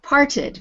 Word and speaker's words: parted: Exactly, parted.